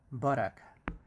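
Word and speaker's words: buttock: and it's pronounced as the stress is in the first syllable so that's the stress and borac and we use the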